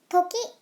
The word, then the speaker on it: 時: kanji is this one this kanji means time or hour and it is read as toki well this comes and